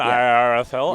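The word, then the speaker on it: Iarathael: I think I see a tremor of Irethel. I can never pronounce the card. That is the government pronunciation. Oh, that is the official one. Irethel.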